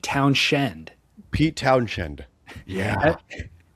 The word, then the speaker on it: Townshend: Is I said it's Pete Townsend in the Who. Yeah. It's actually even more complicated. It's spelled town and then Shend. So it's Pete Townshend.